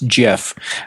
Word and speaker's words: GIF: rest of the world still says no it's GIF what is he no why if why if it's unresolved why if it's GIF would you spell it g if why wouldn't you do J if uh because that's how